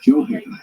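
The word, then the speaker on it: Gjoa Haven: This is because there is a Joe Haven, which is what the locals say today using the J sound, Joe Haven.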